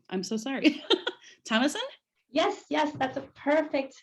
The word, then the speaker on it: Thamassen: Thamassen? Yes, that's a perfect pronunciation.